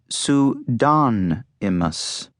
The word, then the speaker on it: Pseudonymous: It's pronounced pseudonymous.